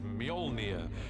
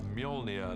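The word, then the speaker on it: Mjolnir: The first challenge with a hammer is to work out how to pronounce it, which is Molia uh in our movie at the moment. Until somebody corrects me, I'm sure they will. Uh Molia, the hammer, this awesome uh weapon for Thor.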